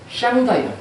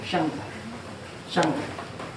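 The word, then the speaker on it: 上帝: 그런데 이 상제가요, 하늘에 계신 통치자 상제가 중국 발음으로 뭐냐면은 샹다이요. 샹다이.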